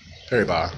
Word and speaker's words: Paribas: It's really Paribas. I think the S is silent.